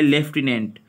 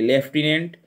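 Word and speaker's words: lieutenant: Next meaning है लेफ्टिनेंट, spelling ये ध्यान से देखिएगा, इसकी उच्चारण अलग तरीके का होता है और स्पेलिंग अलग तरीके। लेफ्टिनेंट एल आई ई यू,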